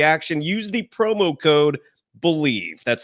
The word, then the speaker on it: BLEAV: Use the promo code BELIEVE. That's spelled BLEAV for your 50% free bet credit on your first deposit up to $250.